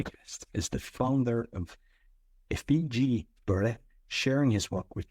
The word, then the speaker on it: Effiji: It's first of all, it's Nisenboim, but Effiji Breathwork. Yeah. Effiji is how you pronounce it.